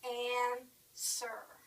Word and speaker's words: answer: crazy English we say answer we don't pronounce the W answer is what they'll